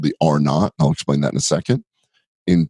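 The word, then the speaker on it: R0: in epidemiologic terms it's it's written as R zero so you may see it as that or its pronounces or not that means that one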